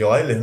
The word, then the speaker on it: Euler: A gente pronuncia Euler, né?